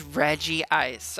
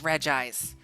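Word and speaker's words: Regice: no it's not it's not Reggie ice it's regg ice girl they're the Reggie Trio it has to be Reggie ice and even the reason why I called it Reggie ice was also before the the the Lucario Mystery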